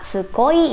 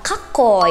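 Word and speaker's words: かっこいい: Ini bacanya bukan tsukoi ya teman-teman, tapi bacanya adalah kakoi. Huruf K-nya tuh menjadi tebal karena diberikan penekanan oleh se kecil tadi.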